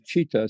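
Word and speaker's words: citta: And so the word is, in Sanskrit, is chitta, C-I-T-T-A, or in Japanese it's shin, and it's called heart mind.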